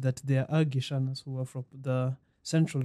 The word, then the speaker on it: Gichana: And then there's mine, the pronunciation is Gichana. So that is from the Nyamira and that area. So the way it is pronounced in Kikuyu is Gichana. Yes. In Kisii is Gichana.